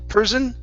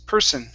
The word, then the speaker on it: person: and person so here you were uh pronouncing that s like a z saying person person it's Pur person person great great nice